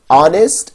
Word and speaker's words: honest: It will be noticed that the words our, honest, I begin with a vowel sound as the initial consonant is H which is not pronounced.